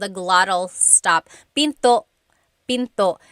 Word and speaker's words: pinto: And remember, don't forget the glottle stop. Don't forget to stop the sound at the end. That's called a glottle stop. Pinto.